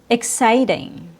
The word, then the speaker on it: exciting: EX is pronounced with a short I sound plus KS, like in the word exciting. Sigh is stressed. Ick is not.